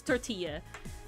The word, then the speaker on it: tortilla: no, you're just like, it's tortilla. Like you make the Y noise, British folks. It's not you know? tortilla, goddammit.